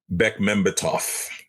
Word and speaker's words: Bekmambetov: How do you pronounce his last name again, Josh? Bekmambetov.